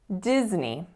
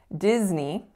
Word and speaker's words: Disney: attention to each word so in this particular word Disney we're actually making a voiced sound even though it looks misleadingly like an S like us sound so we have diz as our first syllable and the second syllable is inherently a little bit tricky as well so it kind of looks like it should be pronounced nay but we don't say